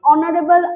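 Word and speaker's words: honourable: না আমরা হাওয়ার হনেস্ট বলি না আমরা অনেস্ট অনারেবল আর এগুলোকে বলি তো হচ্ছে সাইলেন্ট থাকছে তখন আমরা চোখ বন্ধ করে এখানে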